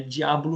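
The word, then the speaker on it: Deablo: Não chega, tentaram forçar, botaram um D-E-A-B-L-O, né? Diablo mesmo, né?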